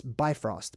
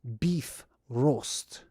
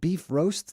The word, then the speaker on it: Bifrost: People commonly pronounce this Bifrost, but that's not how you pronounce it. It's beef roast. Like beef roast, like you put a roast in, like a beef roast or whatever.